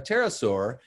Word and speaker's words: pterosaur: So one was, why can't you hear a pterosaur using the bathroom? Because the P is silent.